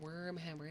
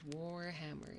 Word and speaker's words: Warhammer: it they're they're like it's not wormer it's Warhammer it's Warhammer and I was